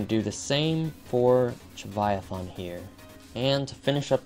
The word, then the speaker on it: Chauniathan: I don't know how I've been saying it this whole time, but it's actually Chauniathan.